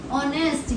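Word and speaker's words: honest: हम तो एन लगेगा ऑनेस्ट यहां पर भी एच साइलेंट साउंड किसकी आ रही है?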